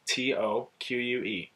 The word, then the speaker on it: toque: now it's t-o-q-u-e again it's pronounced like the number two with a k attached to it another thing that is